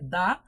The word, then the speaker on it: the: সেই বিশুদ্ধতা হলো যে শব্দের প্রথম অক্ষর যদি কনসোনেন্ট হয় তাহলে THE যে ইংরেজি শব্দটা বা ডেফিনিট আর্টিকেলটা এটার উচ্চারণ হবে দা, আর শব্দের প্রথম অক্ষর